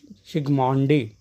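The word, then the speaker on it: Zsigmondy: One scientist, his name was Sigmondy, Z-S-I-G-M-O-N-D-Y, Z-S-I-G-M-O-N-D-Y, Sigmondy, that is silent.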